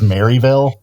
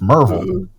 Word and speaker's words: Maryville: Maryville but yeah but he says Maryville and it's like oh no man like that's nobody nobody from around there actually pronounces it it's Marvel right exactly it's funny because